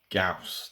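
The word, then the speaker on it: Gyaos: Gauss. That's apparently the correct pronunciation of the film, 1967.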